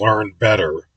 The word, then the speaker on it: Learn BTR: The one that really catches Mino's attention the most is a 32 inch by 32 inch learn BTR, a brand name that's pronounced learn better steel security bus of fireworks.